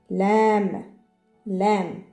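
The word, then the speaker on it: لام: Lam, lam. Ça correspond exactement à L.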